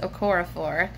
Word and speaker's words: Okorafor: and read Binti by, her last name, I'm pretty certain, is pronounced Okorafor, but it's a sci-fi series.